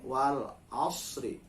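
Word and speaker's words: والعصر: Ro menjadi tebal berhenti wal asr karena ada tanda baca a sebelum berhenti di huruf ro.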